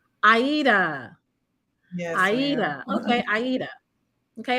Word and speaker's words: Adia: No, I just want to let you know it's pronounced Aida. Aida.